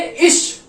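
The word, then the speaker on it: ich: तो जैसे अब सी एच है, ठीक है, अब सी एच से पहले आई आया हुआ है। आई जो है हमारा इस कैटेगरी का है, ये 7 का। ठीक है, तो अब इसको हम क्या प्रोनाउंस करेंगे? इश। आई और सी एच मतलब श।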